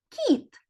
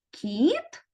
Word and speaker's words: кіт: звук к а слово кіт звук кі у слові кит перший звук к твердий а у слові кіт перший звук к м'який так от діти умовно